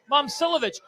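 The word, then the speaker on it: Momčilović: Pronunciation. Momcilovic.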